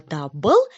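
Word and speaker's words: дабыл: Чтобы правильно произнести слово дабл, зарычим как мишки.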